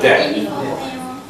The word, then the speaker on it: debt: about remember the pronunciation the B is not something you have to worry about just go with debt that better follow me